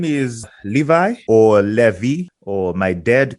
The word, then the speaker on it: Levi: Yeah, so just in case for the listeners, we used to call him Levi, not Levi. You know, Levi is English pronunciation, so we just call him.